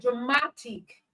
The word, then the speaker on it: dramatic: ends with I okay so the stress or the stress syllable in dramatic is the syllable before I see which is M okay which is mat so dramatic dramatic all right the stress